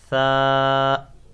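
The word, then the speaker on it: ث: It is tha. You have to pronounce it without whistle. Tha. Touch your tongue with your upper teeth.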